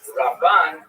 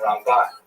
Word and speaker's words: Ramban: first syllable, Rambam, and Ramban is pronounced with the second syllable, Rambam and Ramban.